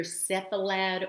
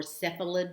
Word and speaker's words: cephalad: direction even less commonly you will hear cephalad or cephalid depending on how the person pronounces it so you will hear